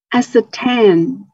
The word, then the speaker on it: ascertain: Ascertain.